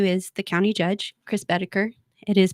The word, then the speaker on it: Boedeker: um my nephew is the County Judge Chris beter it is pronounced beter does he call you an Alexa no never